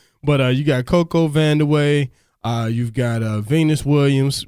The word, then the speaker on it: Vandeweghe: stashed away somewhere but you got a Coco vanderway you've got a Venus Williams man 20 years